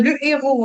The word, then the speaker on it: le héros: Oui, le l'héros euh le héros hein. Le héros c'est pas l'héros.